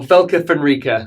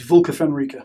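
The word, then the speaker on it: Vlka Fenryka: Space Wolves or Velka Fenrica? Where do you stand on that? Let's be realistic. It's Vulca Fenrica.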